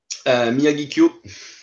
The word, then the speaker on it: Miyagikyo: Miyagikyo. So it's between O and U, if you want, at the end. It used to be written with O-U at the end, actually, Miyagikyo.